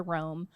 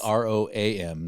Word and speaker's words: Roam: you can go onto Rome. You can find those. And it's ROAM, not ROME.